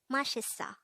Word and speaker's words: 맛있어: angle we're going to study about the word mashisa let's start learn korean one word at the